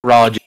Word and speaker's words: Farage: I miss said that I was going to say farage it's supposed to be farage my I'm dislike I'm